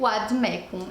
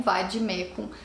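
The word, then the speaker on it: vade mecum: se aproxima mais daquela que os romanos falavam na antiguidade é o Vademecum e não Vademecum, como a gente vê a maioria das pessoas dizer.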